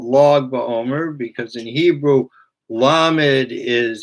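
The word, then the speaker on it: Lag BaOmer: 33rd day of the Omer, that's what's called Log Ba'omer, because in Hebrew, Lamed is, you want to write 33, you'd write Lamed Gimel, which is pronounced Log. So Log Ba'omer, the 33rd day of the Omer, is always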